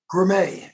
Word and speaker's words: Grimet: Michael Grimm. No, what's his name? Grimet is how it's pronounced.